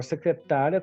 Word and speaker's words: secretária: Agora, secretária, como eu tenho aqui o sinal indicativo aqui de acento, né? Eu sei que a pronúncia é essa. Meu acento, minha sílaba tônica é uma paroxítona. E uma paroxítona terminada em ditongo, eu tenho que acentuar.